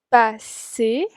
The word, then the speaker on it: pas: Y ven que pas se pronuncia como si no tuviera una S al final. Tant de soir, on ne se parle pas.